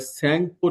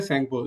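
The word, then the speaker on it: Yarlung Tsangpo: उसके बाद इट is being built at द यारलंग सेंगपो river. ठीक है? ये टी जो है वो साइलेंट है सेंपो यारार्लिलंग सेंपो रिवर है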